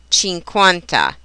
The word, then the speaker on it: cinquanta: The combination QU is always pronounced as KW, just as in the English queen or quest. Example Italian words would be quello and cinquanta.